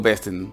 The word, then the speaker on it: besten: En vez de decir besten, digo besten. Es como que la T y la N hacen una E muda, por así decirlo.